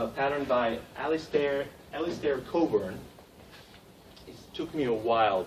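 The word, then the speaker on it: Cockburn: this is a a pattern by alistair alistair coburn it took me a while to say his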